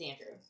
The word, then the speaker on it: Andreu: Now, our next lighthouse tower couple is Joseph Andrew. Mm-hmm. It's spelled Andreu. Okay. But it's Andrew.